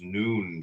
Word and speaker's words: Nun: little lives and deaths comment on nun noon pronounced noon transcribed as n the number 50 meaning